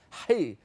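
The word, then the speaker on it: ח: If you're Sephardi and you can pronounce it properly, it's not chi, it's hi.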